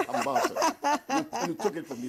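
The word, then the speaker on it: Harmattan: Hamatan. You took it from me that day. I beg you. I like that. Hamatan. The stress is on the second syllable.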